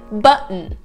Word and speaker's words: button: It's when T is glottal. You don't really pronounce the T, like button.